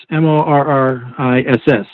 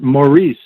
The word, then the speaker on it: Maurice: bishop stuff um cute how do you think cubans pronounce morris m-o-r-r-i-s-s well they pronounce it morris no no they pronounce it maurice and i said heming